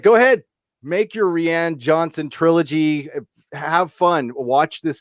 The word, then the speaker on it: Rian: How do you say that stupid name? Rian. God damn, that's so I thought it was Ryan, but so many people say Rian.